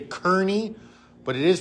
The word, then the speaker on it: Kearny: People say Kearny, but it is pronounced Kearny. That comes from the Irish, that E-A-R making an R sound.